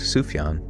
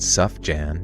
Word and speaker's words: Sufjan: I can't even say Sufjan. What do you mean? That was correct. Sufyan. Sufjan Stevens. That's not Suff Jan. You better not be saying Suff Jan.